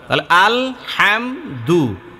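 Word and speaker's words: الحمد: করি স্পষ্ট করে পড়া আল হামদু আল হামদু এই হাম স্পষ্ট হবে এক জবর এক পেশকে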